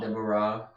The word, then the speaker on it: Deborah: Most Hebrew words are accented on the last syllable, so it would be Deborah. Deborah.